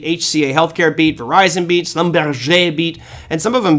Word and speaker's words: Schlumberger: Here is Schlumberger, which we were having fun with yesterday, but yes, Schlumberger is the appropriate pronunciation. It just, if you read it like Slumburger, it just sounds weird.